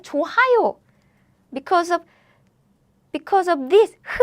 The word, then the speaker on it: 좋아요: 좋아요. Because of this sound, right? Nope. This Korean sound is very weak, so you can pronounce it like 좋아요. It's not 좋아요.